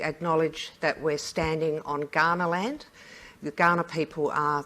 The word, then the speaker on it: Kaurna: that we're standing on Kaurna land. The Kaurna people are the traditional people of Adelaide. If you're not from these parts, it's spelt with a K, not a G.